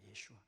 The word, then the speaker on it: 예슈아: 예슈아. 여러분 예슈아가 예수님의 히브리 언어입니다. 이게 헬라어로 예수스가 됩니다. 예수스 크리스토스 이렇게 되고, 근데 이 히브리어 언어는 예슈아 마시아 이렇게 발음을 합니다.